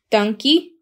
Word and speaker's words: Dankie: Dankie.